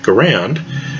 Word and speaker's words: Garand: american military guns which would be the m1 garand or garand however you want to pronounce it is one that had a conventional